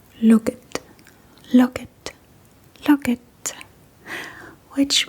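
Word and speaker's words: lukket: And sometimes, especially on a Sunday, the same sign when you flip it around will say, "Look it.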